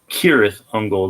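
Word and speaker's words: Cirith Ungol: forever black by cyrus not to be confused with kirith hungal that's how they pronounce it in the tolkien book but for them they're serious uncle so every single album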